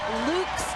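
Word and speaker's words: Loux: down with reliever Shane luks today yes that X is pronounced just ask him I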